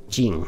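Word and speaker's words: 人: Remember, when we attach the kanji for hito, or person, after the name of a country, or after a lot of words, it would become jin, not hito, the pronunciation.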